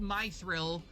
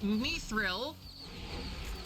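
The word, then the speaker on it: mithril: And no, it's not pronounced mythril. uh for the love of I don't even know what uh it's me thrill because that is uh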